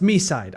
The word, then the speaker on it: MiSide: A player downloads Mi on their phone and Okay, it's confirmed. It's pronounced Mi side.